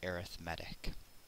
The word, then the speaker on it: arithmetic: Yes, it's pronounced arithmetic.